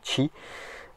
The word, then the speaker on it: Qi: évidemment donc c'est la norme qi la norme chi me demandez pas pourquoi ça se prononce comme ça le volant basséen petit volant